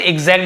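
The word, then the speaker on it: exact: था एक् एजेक्ट sorry एजेक्ट एजेक्ट का मतलब क्या होता है इसे एग्जैक्ट भी पढ़ते ई जैसे उच्चारण एजेक्ट यानी एकदम ठीक वैसे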